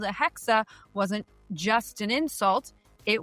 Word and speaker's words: Hexe: with their upcoming title, Codename Hexe. And yes, as far as I am aware, that is the proper German way to pronounce it, although there's a